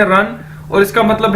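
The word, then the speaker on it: 人: और second word है, third word ये देखिए हमारे पास REN, रन, जिस तरह हम इंग्लिश में कहते हैं दौड़ने को रन, इसी तरह चाइनीज में रन, और इसका मतलब है पर्सन, शख्स, ठीक है।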